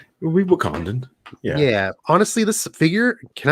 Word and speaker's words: Wakandan: gold wakandan arm yeah he kept calling it wakandian i was like don't you know how to pronounce the fictional countries wakandan yeah honestly this figure